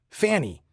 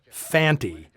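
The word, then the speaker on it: Fante: I saw this movie, I'd assumed Lee Van Cleef's character was named Fanny, since that's how both Earl Holliman and Brian Donlevy always pronounce it. It's only when Conte speaks the guy's name does he clearly say Fanty.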